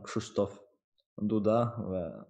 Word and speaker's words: Krzysztof Duda: everyone how is how is my name pronounce it's Kristof Duda like a very difficult I believe for um yeah yeah to to say so yeah I mean okay young Christo is uncorrect form but many people call